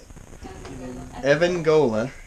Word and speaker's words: Evangola: And so we're headed to Evangola is how they say it up here.